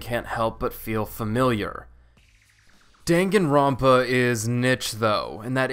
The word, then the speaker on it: Danganronpa: Danganronpa is niche though, and that is how you say that word.